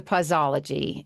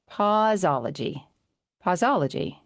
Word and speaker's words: Pauseology: Well, before we get into pausology, and I don't know why I have a hard time with saying that, does anybody else pausy pausy?